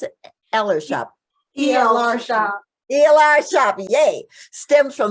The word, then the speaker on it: ELRSHOP: And the name ELRSHOP, is that how you pronounce it? ELRSHOP.